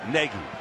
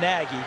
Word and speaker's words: Nagy: Pennsylvania born in New Jersey he said I pronounce it Negi like a Negi so that's what we're pronouncing but he doesn't mind the people call him Naggy he says either way is fine but Negi